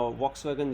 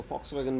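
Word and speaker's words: Volkswagen: पाकिस्तान में इसके अलावा वॉक्सवैगन, जिसको फॉक्सवैगन भी प्रोनाउंस किया जाता है, और कुछ चाइनीज़ कंपनी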